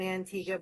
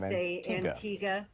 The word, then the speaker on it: Antigua: to the island of Antigga. But when you look at it, it looks like it's Antigua.